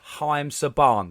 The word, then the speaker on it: Haim Saban: it it's haim saban that's how it's pronounced i just had to